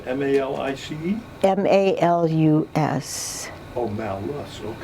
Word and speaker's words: Malus: It's Malus, M-A-L-I-C-E? M-A-L-U-S. Oh, Malus, okay. I pronounce it malice. Okay. I don't know if that's right.